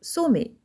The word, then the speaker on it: sommet: On prononce et, sommet, et ne prononcez pas la consonne T, c'est une lettre muette.